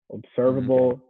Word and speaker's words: observable: um yeah well basically if able is a suffix it's going to have the sound uh a bull got it it's always